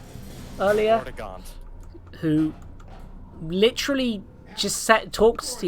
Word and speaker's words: Vortigaunt: Like, there was a Vortigaunt. I think that's how you pronounce it. Vortigaunt. Earlier. Vortigaunt.